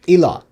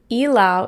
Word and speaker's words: Ilaw: Ilaw. Okay, Meg said, just a little tip. Ilaw is pronounced as E, like you're saying letter E, as a long vowel.